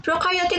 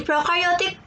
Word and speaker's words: prokaryotic: And to help me remember some more difference in this next part, I like to remember that pro in prokaryotic or prokaryote rhymes with no, and you in eukaryotes rhyme with do.